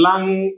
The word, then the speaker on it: lung: Or before we said, for example, lung, in lung, G is silent.